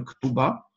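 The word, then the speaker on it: כתובה: тав мы произносим одинаково, бет – это иногда и вет. Да, точнее, чаще это вет, но иногда и бет, как, например, слово ктуба.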